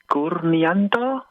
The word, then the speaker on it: Kurnian: So my last name is Kanto.